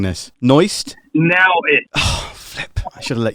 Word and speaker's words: Naoist: am i pronouncing this noised now i should have let you speak first what do you mean it's now now it's nowist like daoist the intimate now okay